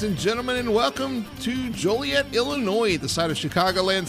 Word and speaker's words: Joliet: Yeah, and I'm glad you that you said Joliet because uh it's not pronounced jolly yet because there's nothing jolly about it.